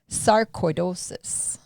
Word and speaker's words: Sarcoidosis: And so today is World Sarcoidosis Day. Did you say that right? Close. Sarcoidosis. Yeah, close enough. I had to break it down into syllables and spell it phonetically.